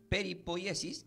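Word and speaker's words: περιποίησις: Y hemos aprendido que la palabra preservación del griego significa se pronuncia como peripoyesis, que significa guardar cuidadosamente algo.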